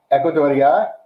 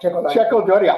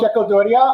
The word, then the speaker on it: Checo Doria: We are overjoyed to thank Ecuadoria. I said his name wrong. Checo Doria. I've never said your name wrong all these times, and now I say it wrong. Echo Doria. No, Checo Doria, our artistic director.